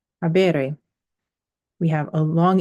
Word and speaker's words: habere: So we have an I before the RE.